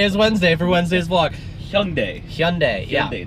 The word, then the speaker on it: Hyundai: So, what rhymes with Sunday? It is Hyundai.